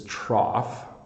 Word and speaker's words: trough: the picture is coughing so that's another gh where it's making an F sound to cough and then this this word isn't used as much anymore usually on a farm this is trough you'll also hear it